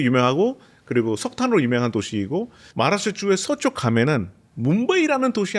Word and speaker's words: Maharashtra: 네, 마라슈트라입니다. 마하라슈트라. 이게 진짜 원어민 발음이에요.